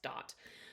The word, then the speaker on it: dat: from the latin verb dot which means gives i know it's spelled d-a-t but it's pronounced dot so dot means gives